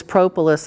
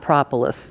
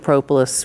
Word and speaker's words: propolis: was the queen of propolis research in America and she also pronounces it propolis because it's before the city so they feel that that's a long o now Kim plottum is